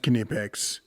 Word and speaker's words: Knipex: pouches and such and yes it is pronounced kipic Google it or something